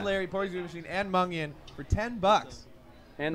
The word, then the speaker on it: Mungion: you got Mungion.